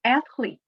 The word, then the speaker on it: athlete: Now the word athlete, the stress is on the first syllable.